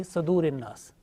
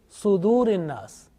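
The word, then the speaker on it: صدور: Now this Sad, sometimes pronounced unintentionally with Fatha, like Yuwaswisu fi Sadurin Nas. So make sure that this Sad, whenever you teach to others, this Sad with Dhamma. Okay? So it means Sudurin Nas.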